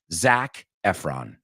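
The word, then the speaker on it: Zac Efron: let's hearon or should I say it correctly Zach Efron you know all of it it's it's just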